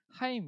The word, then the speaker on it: 하임: 아세요 하인 네 그렇죠 발음 잘못하면 하이 이렇게 들릴수도 있는데 하임 이라고 해요 우리 v 지라 분들과